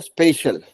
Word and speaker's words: special: अब बात है स्पेशल। अब इसका वर्ड देखिए, SPECIAL, स्पेशल ऐसा प्रोनाउंस करने को आएगा।